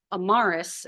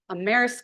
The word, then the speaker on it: Amaris: mistake of saying hey I usually have people who mispronounce my name amarus and then I've spent the last 20 minutes trying to listen to amazing things and make sure I say it correctly am Maris couples her